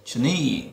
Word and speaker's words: journey: Tiếp theo là sorry, journey, trọng âm thứ nhất này, journey, rất mạnh đúng không?